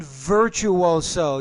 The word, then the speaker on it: virtuoso: Violin virtuoso. You need to pronounce that V with more vibration.